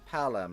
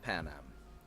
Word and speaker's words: Palem: Panem. Palem, not Panem.